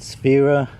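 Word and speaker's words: Wera: So, and it's a kind of expensive accessory to have, but it's Vera. W's are pronounced V in German, but it's a German engineered kit.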